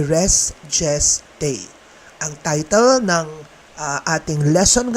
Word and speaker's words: res gestae: Iba-iba ang pronunciation ng Latin phrase na ito at ang gagamitin kong pronunciation ay restgest day.